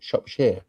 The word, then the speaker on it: Shropshire: That's how you pronounce it, Shropshire.